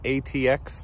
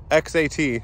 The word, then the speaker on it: X-AT: got the yokohoma um ATX tires sorry xat I had to look I knew I said it wrong and they are in